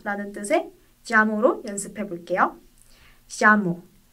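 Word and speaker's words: llamo: 근데 지역에 따라 야를 야랑 자 사이에 자로 발음하는 곳도 있답니다. 이걸 예이스모 현상이라고 하는데 내가 부르다 라는 뜻의 자모로 연습해 볼게요. 자모. 야모?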